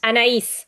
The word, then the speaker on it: Anaïs: How do I pronounce it? Anais? Anaïs, yes. Anais.